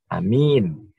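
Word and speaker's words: أَمِين: A-nya pendek, min-nya panjang. Amin. Berbeda dengan kalau A-nya panjang, min-nya pendek. Amin. Artinya berimanlah atau berilah jaminan keamanan. Nah, ini berbeda. A-nya panjang, min-nya panjang. Sehingga menjadi lebih panjang lagi.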